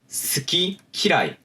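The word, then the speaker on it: 好き嫌い: 예를 들자면은 노미, 크이, 스키, 키라이 라는 식으로 발음을 하기 때문에 이 경우에는 연탁 현상이 발생하지 않습니다.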